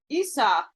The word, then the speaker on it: Isa: possibly scandinavian or gothic in these languages the name is pronounced isa meaning ice the rune